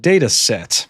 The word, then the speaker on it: Datasette: And it turns out that there's this project made by Simon Willison called Datasette. You kind of spell it like cassette, but you write Datasette instead.